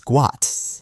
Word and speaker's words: Gout: determined to change it Bona insists that the correct pronunciation of his son's name is guat and he wants the world to recognize it as such for me I don't